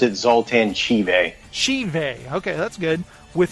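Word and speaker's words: Zoltan Chivay: He pronounced it Zoltan Chive.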